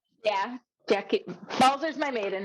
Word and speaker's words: Jackey: Yeah, Jackey.